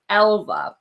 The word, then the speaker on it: Älva: Okay, I'm pronouncing it right. Thank you, Mandy. Yeah, I'm like, I think it's Älva.